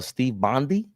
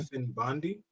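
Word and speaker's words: Stefan Bondy: We see along with that news, I heard uh Steve Bondi. Hope I'm saying his name right. Hope I ain't getting your name wrong. Stephan Bondi.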